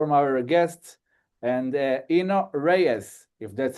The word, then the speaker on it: Eno Reyes: from our guest, and Eno Reyes, if that's how you pronounce it.